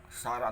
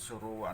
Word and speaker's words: Suruwa: O Sara ang tawag ng mga translator, ngunit Suruwa ang tamang pagbigkas.